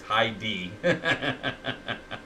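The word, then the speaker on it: Highdee: character, but Heidi, and it's spelled H-I-G-H-D-E-E, so it's Heidi.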